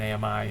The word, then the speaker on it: AMI: that virtual machine right we boot an ami for them or an ami if you if you prefer the three syllable version and um and uh